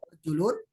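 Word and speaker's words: رَجُلٌ: Jadi Ya, ya, tulisannya ya. sama nih, Ya, tapi nanti cara bacanya beda. Ya. ya. Rojulun, ya berarti laki-laki. Kalau rijlun, kaki. Tapi kalau dilihat dari tulisan, Kaki. sama.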